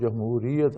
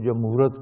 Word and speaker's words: جمہوریت: پہ تقریر کرتے ہیں تو ان سے صحیح تلفظ جمہوریت ادا نہیں ہوتا، کوئی جمہورت کہتا ہے اور کوئی کچھ کہتا ہے، کوئی